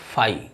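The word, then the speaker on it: phi: इट इज a Greek letter pronounced as फाई।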